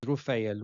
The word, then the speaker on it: Raphael: So Raphael is pronounced as Rufael, which is the same pronunciation as the word Rofe. Rufael, Rofe.